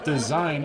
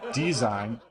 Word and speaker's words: Dzine: So Dzine used to be called Styler.AI, which is another dumb name, but Design is actually pronounced Design for anybody who cares, not design, like I probably said at the beginning of this video.